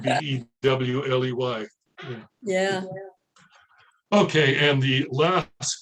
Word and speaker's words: Beaulieu: Well, there's a place in England that is spelled capital, well, Beaulieu, which would translate in French to beautiful place. But it's called by local residents of that particular place as Bewley.